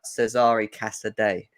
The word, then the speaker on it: Cesare Casadei: You brought out a tweet earlier on today about Cesare Casadei. is how you pronounce it, even though my Italian's awful.